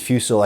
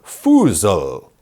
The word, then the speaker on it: Fusel: So they wouldn't pronounce it fusel. I guess they'd pronounce it something more like fusel.